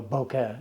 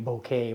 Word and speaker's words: bokeh: do you speak it so Boca is what it was now you hear all kinds of people saying bouquet bouquet and everything else sweet sweet bokeh